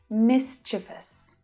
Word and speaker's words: mischievous: Mischievous. It's a tricky one. It's not mischievous. There's only one I there, so it's pronounced mischievous.